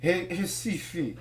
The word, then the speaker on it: Recife: And the first synagogue in the Americas was built in the capital, Recife. I don't get it. There's an R, but why is it pronounced like an H?